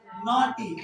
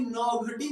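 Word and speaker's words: naughty: नॉटी, NAUGH, नॉटी। नॉटी माने, इसको भी नौघटी मत पढ़ दीजिएगा, नौघटी नहीं है, नॉटी है, ठीक है ना।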